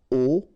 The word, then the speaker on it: aux: get this aux, okay, and then phonetically you produce it or you pronounce it au.